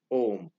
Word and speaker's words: Om: So the three syllables of Om, O, U, and Ma. A. When you open your mouth. And oo is a rolling sound. Oo. And ma is when you close it.